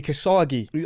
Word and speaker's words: Kosgi: They used to call me Kasagi. Okay. I like that as well. Listen. I'm But everyone obviously how you say it is Kosi in it.